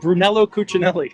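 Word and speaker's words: Brunello Cucinelli: Lou Brun Bruno Brunell what is it it's Brunello Cinelli okay and and what did you ask them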